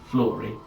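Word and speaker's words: Fluri: it says FL because it's f l u r i flurry flurry flurry you were a faint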